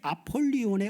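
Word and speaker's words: Ἀπολλύων: 자, 히브리어 아바도는 그 의미가 파괴, 멸망이라고 하는 의미이고 헬라오이 아볼루온이라고 하는게 헬라오 발음으로는 아폴리온인데이 아폴리온의 의미는 파괴하는 자입니다.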